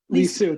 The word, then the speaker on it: Lisieux: Her most recent volume, A Rose from Two Gardens, Saint Therese of, I'm going to mispronounce this, maybe you could actually say this word for me, of Lisieux. Sorry, Lisieux, thank you.